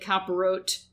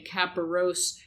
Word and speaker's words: Kaporos: Now, I said Kaporot before, and I'm saying Kaporos right now. Just like dialects in any language, you can pronounce this tradition two ways, depending on whether you're Sephardic or Ashkenazi in the Jewish religion.